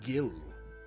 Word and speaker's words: Gill: um sorry about that it's pronounced gill that's it that's all